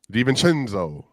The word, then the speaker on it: DiVincenzo: It's not pronounced Senzo. It's pronounced Chenzo. DiVincenzo.